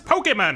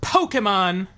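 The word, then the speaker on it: Pokémon: Did you all know it's pronounced Pokemon? Pokemon. Very important that you get the K in there.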